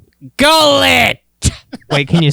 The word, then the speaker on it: Gullet: You mean Gully? Gullet. Wait, can you spell that?